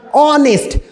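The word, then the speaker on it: honest: सांड निकला एन लगाए ऑनेस्ट एच लेटर है लेकिन इस एच साइलेंट होता है साउंड क्या निकलता ऑनेस्ट ओ का साउंड निकलता है ओ का तो ओ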